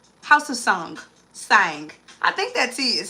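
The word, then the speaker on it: Tsang: And then house of I believe the tea is silent. House of Sang.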